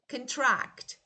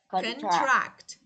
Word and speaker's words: contract: Look, verbs, nouns. Look, noun the first part. Verbs the second syllable.